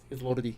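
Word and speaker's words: Lorde: And especially trying to catch up with whatever was current because when Lord Lord what's the pronunciation? Lord.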